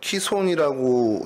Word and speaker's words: 기손: 오늘 저희가 읽은 본문 마지막 절 40절에 이제 기손 시내로 내려가서 거기서 죽이니라라는 이제 요 사건이 지금 벌어진 장소이기도 합니다. 기손강은 뭐 키손이라고 이제 뭐 발음을 해야 되는 게 좀 정확한 히브리어 발음인데 굴곡이다, 그러니까 굽이치다라는 뜻을 갖고 있는 단어입니다.